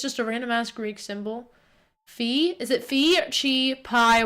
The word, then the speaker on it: phi: Like phi, pronounced like in the dolphin, I, phi. So yeah, phi. Okay, so it's like rye, but it's phi. So it's like FYE because it's supposed to phonetically sound similar to rye, which is RYE, but it's not.